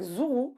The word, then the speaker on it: Zourou: Donc tu es au Théâtre de l'Œuvre avec Zourou, que je prononce bien, Oui, très bien.